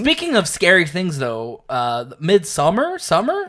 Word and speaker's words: Midsommar: Speaking of scary things, though, Midsommar. Midsummer. That's how they say it in Sweden. Yeah, it's Midsommar.